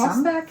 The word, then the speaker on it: Samværk: Yeah, I'm really happy to be here at Samværk. Do I pronounce it correctly? Almost, yeah. Almost. Samværk, yeah.